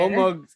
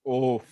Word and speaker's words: Omug: Omug's ears, they twitch a bit. He looks over at Roroi. Who you calling oaf? I am Omug, not oaf. No, he probably just pronounced your name wrong.